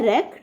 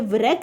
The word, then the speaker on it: wreck: Next है रेक, WRECK, इसमें इसको रेक पढ़ते हैं, ये व्रेक नहीं पढ़ते, ये W जो होता है ये साइलेंट हो जाता है, इसमें W को हाईलाइट करें।